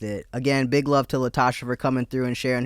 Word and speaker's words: Latashá: all socials at Call Me Latashá, and then Spotify is Latashá with an accent on the A, the last A.